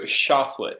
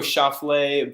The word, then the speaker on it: Choflet: So a lot of people think it's like the French, like, oh, Choflet, but fun fact, I actually don't even have any French in me, but I do have some Italian shortened from.